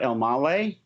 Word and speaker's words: Elmaleh: special edition with us we are interviewing sarah almalei that pronounced that correctly you nailed it how'd you